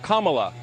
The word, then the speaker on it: Kamala: fellow hosts on fox her name is pronounced comma like the punctuation mark look kamala okay seriously i've heard